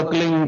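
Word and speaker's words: क्लीं: एक शब्द क्लीन शब्द क्या आधा ला में मिला हुआ, बड़ी एक ही मात्रा और बिंदी, उसका उच्चारण होगा क्लीन गा। गा की ध्वनि निकलेगी पीछे।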